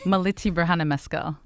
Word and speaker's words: Millete Birhanemaskel: Millete Birhanemaskel. Andom Ghebreghiorgis. All right. It sounds very royal. I can't pronounce it, but it sounds very royal.